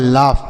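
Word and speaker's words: laugh: औ के रूप में और जी एच का उच्चारण फ होगा यह लिखा है लाफ मतलब होता है हंसना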